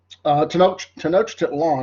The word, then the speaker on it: Tenochtitlan: Their capital city, Tenochtitlan is how you pronounce that.